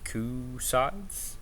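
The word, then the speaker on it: Cu Sidhe: to be able to tame the coup sides. That's the way you pronounce it.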